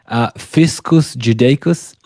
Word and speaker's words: Fiscus Judaicus: In your book, I think you describe how following the rebellion, Rome imposed the, I'm trying to pronounce it, Fiscus Judaicus, which is you pronounced the it.